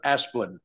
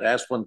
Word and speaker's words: Asplund: It pleases the court, William Moore of Clark Hill, appearing on behalf of Asplund, is how we pronounce that, Asplund Construction Company.